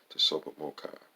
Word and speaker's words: TSOPAHMOCCI: bolts on h m tsopah c c i pronounced the super mocha number two the thirteen recommended reference areas of